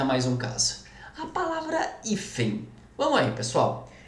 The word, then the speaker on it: hífen: A palavra hífen. Vamos aí, pessoal. Hífen, qual que é a sílaba tônica? É o I.